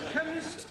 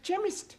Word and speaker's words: chemist: me k e n chemist does not begin with a k it sounds like it begins with k CH H but that is making it chemist no the CH is